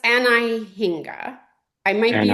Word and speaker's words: Anhinga: So I think it's pronounced Anahinga.